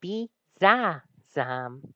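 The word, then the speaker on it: Bisasam: Bizam Bulbasaur's German name is Bzazam. Bulbasaur. Bzazam. Three syllables.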